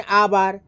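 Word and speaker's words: hour: और जब H silent रहेगा, अर्थात H का उच्चारण नहीं होगा, तब जो है N का प्रयोग होगा, नहीं, ठीक है। जैसे एन आवर, N Hari report, ठीक है।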